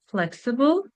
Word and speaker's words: flexible: Third one, flexible, 3 syllables. And the word stress is also in the first syllable.